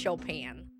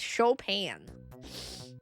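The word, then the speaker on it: Chopin: At least I learned how to pronounce Shopan. It's Shopan.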